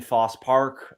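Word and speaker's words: Fosse Park: I still don't understand why you don't pronounce the e in Foss Park I don't get it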